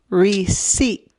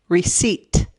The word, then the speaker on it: receipt: practice again re c receipt receipt again that p is silent receipt re-seat recipe recipe this is